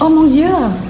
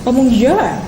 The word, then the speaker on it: Oh mon Dieu: Oh mon Dieu. Oh mon Dieu.